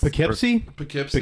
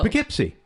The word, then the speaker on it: Poughkeepsie: How do you say the one that's, like, Poukeeeps? Poughkeepsie? Poughkeepsie? Oh. Poughkeepsie.